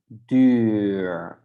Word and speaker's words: duur: But when we have two, then we pronounce it totally different. So then it's duur, expensive. The bus is duur. So at the beginning, we can overdo it. Duur. Can make it very long.